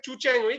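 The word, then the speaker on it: Qiu: তো আমার সুপারভাইজার ছিলেন হচ্ছে প্রফেসর, উচ্চারণটা হচ্ছে চুচ্যাং উই, কিন্তু ওনার বানানটা হচ্ছে কিউআইইউ দিয়ে। তো কিউচ্যাং উই উনি যেটা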